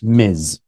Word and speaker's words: Ms.: You know, we have mister mister, missus, and miz. Yeah. Miz. This is the one that many people struggle with.